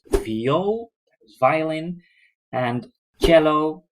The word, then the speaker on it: cello: Another type of string instrument is viool, that is violin, and cello, we use the Italian pronunciation for that, and contrabass.